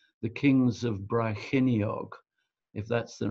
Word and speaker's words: Brecon: I think it's the Kings of Brecon, if that's the right pronunciation.